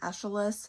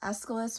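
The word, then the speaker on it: Aeschylus: told it it's pronounced Escilis, which makes sense when you think about it. If you know anything about the pronunciation of Greek names, the ch sounds like a C sound, but I had never thought of it before.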